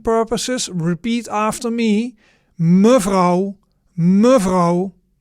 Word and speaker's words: mevrouw: So, the words we just seen in the conversation, the vocabulary summary and pronunciation. So, the first new word was mevrouw.